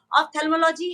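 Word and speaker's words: ophthalmology: से पहले आपसे सीख के जाऊं कि उसे प्रोनाउंस किया कैसे जाता है फिर से एक बार बताइए ऑफ्थेल्मोलॉजी है ऑफ्थेल्मोलॉजिकल सोसाइटी है, तो दिल्ली ऑफ्थेल्मोलॉजिकल सोसाइटी।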